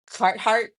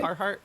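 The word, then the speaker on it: Carhartt: ended up getting uh instead a cheaper uh Cart instead. Is that how you say it? A car heart.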